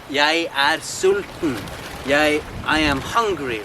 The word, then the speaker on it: jeg: A lot of times, even the most basic verb, I am, jeg like let's say, jeg sulten. I am hungry, right? Here is written with a normal E, but it's pronounced like this thing.